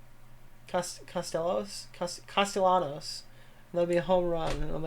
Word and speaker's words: Castellanos: Castaños? Castellanos.